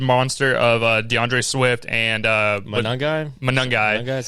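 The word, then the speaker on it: Monangai: Colston Loveland, also the two-headed monster of DeAndre Swift and Manungai.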